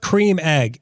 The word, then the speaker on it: Creme Egg: egg why is that Creme Egg so short and fat now they're body shaming my egg bro it's pronounced Cream Egg it's spelled creme but pronounced cream I'm from the UK